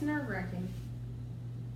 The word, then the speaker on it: nerve-wracking: Is it nerve-wracking or wrecking? It's nerve-wracking. But it's spelled wrecking? It's nerve-wracking. Stop.